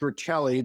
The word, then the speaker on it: Rachele: Well, my website is it's pronounced Rachele, the last name.